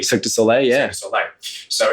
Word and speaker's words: Cirque du Soleil: I always pronounce this wrong. Is it Cirque du Soleil? Cirque du Soleil, yeah.